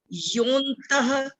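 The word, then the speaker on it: योऽन्तः: इस वर्ड में अगर हम संधि छेद करके बोलेंगे तब तो बोलेंगे यो अंतः, लेकिन जब हम पढ़ेंगे तो यो के बाद एस साइलेंट है, आधे न की आवाज है, योन्तः।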